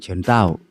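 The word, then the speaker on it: 陳到: ๆ ของ ตัน เตา ตัน เตา สำเนียง จีน กลาง ออก เสียง เฉิน เต้า ชื่อ รอง ก็ คือ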